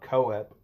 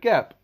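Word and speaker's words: Koepp: And I just recently learned that's how you pronounce it. Keep not co-ap because I'm accustomed to pronouncing words phonetically for some reason. But he is David Keap.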